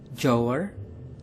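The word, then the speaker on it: jouer: digambarkan dengan seperangkat PlayStation bermain dalam bahasa Prancis yaitu jower jower jower yang digambarkan dengan seseorang anak perempuan yang dijewer bermain dalam bahasa Jerman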